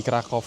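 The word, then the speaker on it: Kraków: Jadi benar-benar mustu visit banget begitu kalian sampai di Krakov. Ya, aku memang sebutnya Krakov karena W di Polandia itu mereka sebutnya V.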